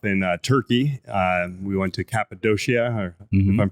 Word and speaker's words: Cappadocia: We went to Cappadocia, if I'm pronouncing that correctly. Yeah, Cappadocia.